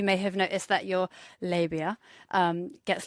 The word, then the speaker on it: labia: the sides of the labia. The only way... Do you pronounce it labia or labia? Labia.